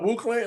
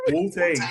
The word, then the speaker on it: Wu-Tang: No, Wu Clan. Am I saying the name wrong? Nope. That is so You wrong. mean Wu-Tang? Wu Tang. Wu Clan? No, Wu-Tang.